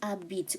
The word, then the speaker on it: habite: Il habite où? H is silent, remember?